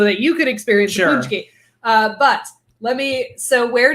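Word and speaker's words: pączki: But I know because I am both from Detroit and Polish that this word is pronounced punchki. Good God. Punchki. Punchki. Like, yeah.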